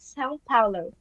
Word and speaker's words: São Paulo: São Paulo.